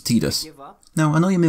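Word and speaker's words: Tidus: behind the name and almost every time that name's been spoken on-screen it's been pronounced "Tee-dus", with the one outlier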